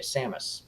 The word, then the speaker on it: Samus: Because, like, Samus, or that's how you pronounce it, Samus, Yeah, Samus.